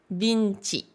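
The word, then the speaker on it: ヴィンチ: je vous rappelle que ici on a e avec des ten et un petit i ce qui fait le son VI qui est prononcé bi par les Japonais et on a donc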